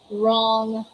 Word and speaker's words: wrong: is the letter w is not pronounced at the beginning of a word when it is before letter r yeah we're very familiar with that we're always you can always encounter such words with silent w because they come before letter r w first and then there's the letter r all right so these are the examples we have right rest wrong wreck and rap all right